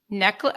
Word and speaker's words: Necheles: Is that how you say it? Necklace. Okay. Thank you, Roger.